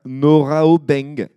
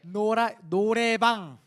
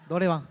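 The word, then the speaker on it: noraebang: Mais si je te dis qu'est-ce qu'un noraobeng, est-ce que ça te dit quelque chose? Oraotek. Un noraobeng. Noraobeng. Norameng. Attends, Attends, je pense que vous prononcez. vas-y, attends. Ah, si, ok, j'ai compris. Un noraobeng. Norebang.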